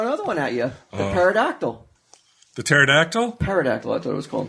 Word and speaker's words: pterodactyl: A pterodactyl with a silent P.